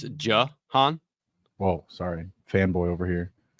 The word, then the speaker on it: Jahan: Yeah, it's Jahan.